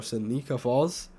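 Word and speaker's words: Seneca Falls: what's it s s Sena Falls or Sena Falls is how you say it um definitely being shelter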